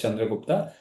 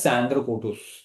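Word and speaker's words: Chandragupta: So that is Chandra Gupta. The word Chandra Gupta was mispronounced as Sandra Kotus.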